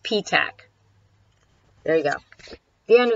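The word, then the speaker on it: Petach: It's pronounced P-tac.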